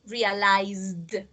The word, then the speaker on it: realized: The last sound is a Z, so the Z vibrates. You have to pronounce like a D, realized.